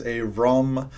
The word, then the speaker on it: Abram: pronunciation of Abram is Avram. The better pronunciation of Abraham is Avraham.